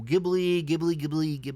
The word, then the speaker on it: Ghibli: I think some of my family actually thinks this one's kind of up there in the, favorite Ghibli movies of all time.